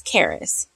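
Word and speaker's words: Karis: so this is baby charis k-a-r-i-s i was like am i saying it right i even googled it and did the whole say this name for me it's charis so i don't know like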